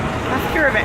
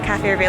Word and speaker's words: Cafe Reveille: And I was like, the Cafe Reveille, like it rhymes with cafe?